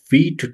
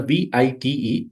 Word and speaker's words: Vite: How to create React application with the help of Vite tool. So, generally we write it as a v i t e, but we have to pronounce it like v e e t.